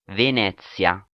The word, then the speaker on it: Venezia: This former Costa ship is named after the Italian city of Venice. But how do you pronounce the name of the ship? I checked with AI. Venezia.